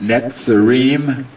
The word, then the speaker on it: Netsarim: And there's two ways of pronouncing it if you wish to note it. It's Netsarim, N-E-T-S-A-R-I-M.